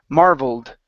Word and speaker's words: marveled: have the word marvelled instead of marvel at okay that Ed ending is addy sound only marveled marveled I marveled at